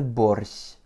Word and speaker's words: борщ: Comme nous n'avons qu'une seule voyelle, donc une seule syllabe, l'accent tonique tombe forcément dessus.